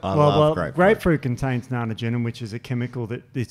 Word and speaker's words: naringenin: Grapefruit contains naringenin, which is a chemical that it slows down the cytochrome. How do you pronounce it? I thought it was naringenin.